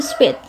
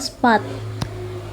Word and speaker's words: spät: Kalau nggak ada umlautnya gini, ini bacanya spat. Kalau terlambat itu spät atau first spät.